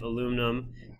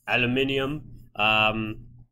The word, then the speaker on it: aluminium: 83.3 3 fiberglass 95 aluminum or as everyone else in the world pronounces it aluminium I've got the average